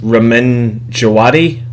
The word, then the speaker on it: Ramin Djawadi: Ramin Djawadi, Oh yeah, I think is I've heard his that name is.